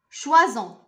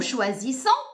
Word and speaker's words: choisissons: On dit nous choisissons. نحن نختار. Nous choisissons. Donc ça c'est la réponse. On ne dit pas nous choisons. C'est faux.